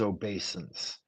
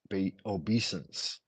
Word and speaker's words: obeisance: No, that's wrong. It is. It is obeisance. Obeisances. Maybe the first time I heard it. Obesence. Maybe the first time I heard it, I heard it incorrectly or it was mispronounced.